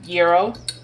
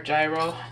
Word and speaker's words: gyro: Tzatziki sauce on a gyro or gyro, depending on who you are and how you say it.